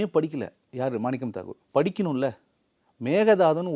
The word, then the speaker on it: மேகதாது: மேகதாதுன்னு ஒழுங்காக ப்ரொனவுன்ஸ் பண்ண சொல்லுங்கள் சார் அவரை. நீங்கள் அவர் பேட்டியெல்லாம் பாருங்களேன், மேகதாட்டு அப்படின்னு என்ன பண்ண முடியும், மேகேதாட்டு அப்படின்னு ஒழுங்காக ப்ரொனவுன்ஸ் பண்ணக்கூட தெரியாது அவரால்.